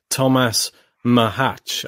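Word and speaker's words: Tomáš Macháč: mean it's just crazy thomas mahach i believe is the correct pronunciation i've been trying to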